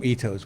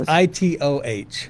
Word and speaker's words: Itoh: I call them Itos. What do you call them? I don't know. I think I said. I don't pronounce them Itos. It's Itoh.